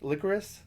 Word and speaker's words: licorice: Licorice?